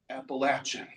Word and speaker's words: Appalachian: And if you're going to be talking about it, you best be saying it right. And how do you say it? Appalachin.